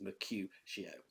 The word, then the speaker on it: Mercutio: You have to do it as Mercutio. Okay, so it's 3 syllables for Mercutio.